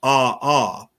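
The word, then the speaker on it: ʻaʻā: It's pronounced ah-ah, and that is a type of basaltic lava.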